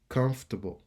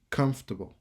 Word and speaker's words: comfortable: automatic automatic automatically chemistry ch m ça il prononcer que chemistry chimie chemistry comfortable comfortable comfortable n pas obligé prononcer f r pour